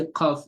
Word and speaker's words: Qaf: Like some people pronounce Qaf is not a light letter. You don't say Ka. So like you don't say Qaf, you don't say Ka.